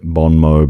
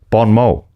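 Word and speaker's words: bon mot: Yeah, I just All right, that makes sense that it is silent. I'm so glad you said it. Bon Mo.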